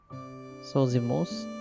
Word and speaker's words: Zosimos: So silent I? Zosmos. Zosmos.